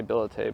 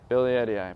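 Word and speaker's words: billietiae: a nice variegated uh how do you pronounce ability I say billote but you said Billy Eddie guy Billy Eddie eye perfect I'm learning beautiful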